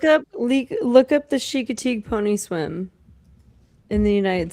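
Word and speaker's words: Chincoteague: Look up le Look up the chicatig pony swim in the United States. It's not spelled how you think. It's spelled c h i n c o t a g e.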